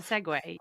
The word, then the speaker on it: segue: Anytime you use a segue, you get where you need to go. Perfect. Um, segue, also 2 syllables, so you're good on that one.